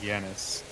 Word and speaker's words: Janus: See, I always hear him pronounce it Yanis. He does, with a Y yeah.